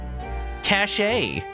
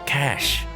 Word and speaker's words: cache: cash as a programmer i cannot forgive myself if i ever pronounce that one wrong cache no no cash cash i write cashes in